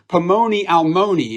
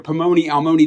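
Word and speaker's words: פלוני אלמוני: In the Hebrew, Boaz calls to the man, and the phrase ends with this Hebrew phrase, Pomoni Almoni, and you can kind of hear that it rhymes in there, Pomoni Almoni.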